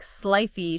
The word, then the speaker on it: slithy: Like Slithy should have a long I, like in Rive.